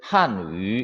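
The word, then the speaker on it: 汉语: 자, 위 발음은 진짜 우리나라에 없는 발음이니까 여러분 연습 많이 해야 되겠죠. 왜? 입술을 동그랗게 모아서 위 발음을 해야 되니까 우리의 위 발음과는 달라요. 그래서 입술 변화 없이 계속 동그랗게 입을 O 모양으로 만들어서 위 발음을 하면은 우리가 들어보지 못한, 사용하지 않는 그런 발음이 돼요. 한위 되겠죠.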